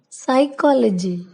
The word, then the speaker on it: psychology: Letter P is silent at the beginning of many words using the combinations PS and PN. For example, psalm, psychology, pneumonia, pneumatic.